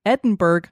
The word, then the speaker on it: Edinburgh: This is a location in Iowa called Edinburgh Manor. It's spelled like Edinburgh, but it's said American, the American way we would say it.